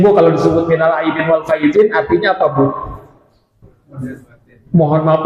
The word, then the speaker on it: wal faizin: wal faizinnya pakai zai, ya. Dan kemudian sudah kadang salah tulisan, salah juga memaknainya, mengartikannya. Biasanya Bu kalau disebut minal aidin wal faizin artinya apa Bu?